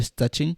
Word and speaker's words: Szczecin: Se eu falar em português fica estranho. Em pronúncia deles é Szczecin, onde eu fiquei, a